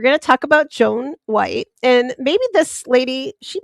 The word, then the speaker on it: Wytte: Her name Joan White, which is spelled YW WT, sometimes spelled white, like in the color white, and sometimes you'll see it as wyt.